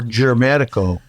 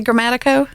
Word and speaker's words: Grammatico: Am I saying it right when I say Grammatico? You're saying it perfectly, but Southern girl here.